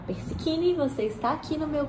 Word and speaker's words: Persichini: Meu nome é Persichini, que se escreve Persichini e fala Persichini.